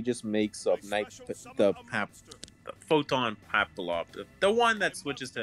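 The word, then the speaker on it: Papilloperative: makes make something photon papalop the one that switches to attacking operatives yeah photon i think it's pronounced happy operative because it's a play on papillon which is uh it's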